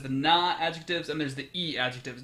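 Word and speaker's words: i-adjective: There's the Na-adjectives and there's the E-adjectives. Notice it's spelled with an I, but it's an E, because that's how you pronounce the I sound in Japanese.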